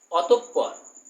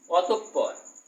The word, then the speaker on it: অতঃপর: দেখো অতঃপর, এই পরটাও কিন্তু ডাবল হবে উচ্চারণ, অতঃপর, অত বিসর্গ পর, অতঃপর।